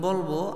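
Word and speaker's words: ب: আমি যখন বলবো, আমার বলার পরে আপনারা খেয়াল করে শুনবেন, শোনার পরে তারপরে বলবেন আপনারা। জি, বা, পাটা উচ্চারণ হবে 2 ঠোঁট এক জায়গায় করে, হালকা চাপ দিয়ে ধরে ছেড়ে দিন।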